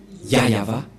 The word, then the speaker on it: Yahvah: ne voit rien et donc c'est bien la prononciation de son nom yayava voilà le y et voilà la suite après